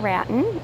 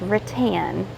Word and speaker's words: rattan: It is not rattan, it is rotan.